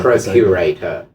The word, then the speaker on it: procurator: hundreds and hundreds of years, you were incarnating as the Roman procurator, Yeah. if you will. It's not how you say it in Latin.